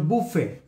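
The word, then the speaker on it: buffet: এখানে টিটা হচ্ছে সাইলেন্ট লেটার, হ্যাঁ, তাহলে বুফে কার, বুফেট, বুফেট হবে না, বুফে কার, কিন্তু লেখার সময় টি লিখব।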